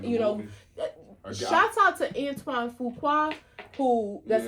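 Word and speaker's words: Antoine Fuqua: I'm, you know, shouts out to Antoine Fua, who that's how you, how you say his name, you know, and, um, he's always done dope stuff.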